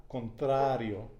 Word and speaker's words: contrario: and so contrario okay that would be like without accent right contrario now try to say it an espanol with a contra contrario it's hard a lot of people have a hard time thrilling their arm so don't worry so